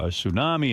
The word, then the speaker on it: tsunami: well, over the Japanese tsunami and earthquake, we'll fire this one guy. thing. I keep hearing tsunami, but do you see it printed? It's There's a T in front. Tsunami.